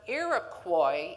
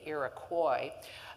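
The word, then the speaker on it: Iroquois: the English pronunciation of a word that the French colonists above Lake Ontario had come up with.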